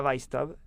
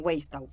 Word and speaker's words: Weisstaub: Hoy nos acompaña Noelia Weistau.